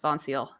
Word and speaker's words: Vonceil: Vonceil is, to the best of my knowledge and the research I've done, is pronounced Vonceil. Okay. Like Lucille, but with Vaughn.